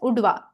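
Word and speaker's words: Udhwa: Okay, we'll pronounce it as Udwa.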